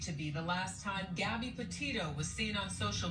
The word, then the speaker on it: Gabby: and our employees had mispronounced her name they said gobby instead of gabby and which is why